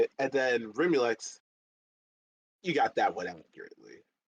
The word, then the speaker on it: Rimulex: But long story short, Brixajol is how you say it, and then Rimulex, you got that one accurately.